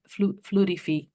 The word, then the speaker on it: Fluidefi: And also CEO and co-founder of Fluidifi, which I'm saying wrong, but that's so you will remember it. It's spelled Fluidefi.